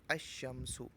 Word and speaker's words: الشمس: حرف شمسی ہو تو الف لام کے لام کو حرف شمسی میں مدغم کر کے پڑھیں گے، یعنی لام کا تلفظ نہیں کریں گے، جیسے الشمس۔ تو آپ نے دیکھا